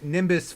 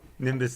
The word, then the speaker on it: Nimbus: that is that is Nimbus 3 but yeah it is not and that and that also I was going to say and he said it wrong nimus 3 that is also